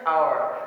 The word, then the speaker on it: hour: এটা হচ্ছে এইচ যেহেতু আছে, এটা উচ্চারণ হওয়ার কথা ছিল হওয়ার, কিন্তু এর রাইট প্রনাউন্সিয়েশন হচ্ছে আওয়ার। যেহেতু এইচটা উচ্চারণ হচ্ছে না, সেক্ষেত্রে এখানে আনসারটা হবে এন।